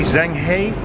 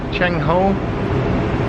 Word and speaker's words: Zheng He: top, and I thought, like, would that be Zheng He, Cheng Ho?